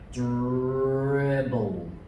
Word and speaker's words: dribble: And the L and the E at the end go all. All. The E is silent, just the L. All. Dribble.